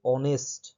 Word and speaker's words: honest: আমরা জানি এটা এক্সেপশনাল ওয়ার্ড একটা, অ্যাকচুয়ালি এক্সেপশনাল নয়, কারণ এখানে এই যে HONEST, অনেস্ট, এর উচ্চারণ কিন্তু অ্যাকচুয়ালি অনেস্ট, তাই তো, অনেস্ট।